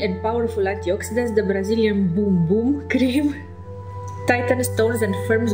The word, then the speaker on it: Bum Bum: Pronounced boom boom in Portuguese, was designed to offer your assets the very best in daily care.